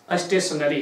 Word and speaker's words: stationery: दोनों का pronunciation स्टेशनरी है, क्या स्टेशनरी, आप लोग स्टेशनरी